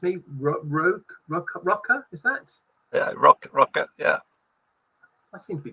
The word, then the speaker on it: Røkke: So Rune, you're going to have to pronounce me Røkke, is that? Yeah, Røkke, yeah.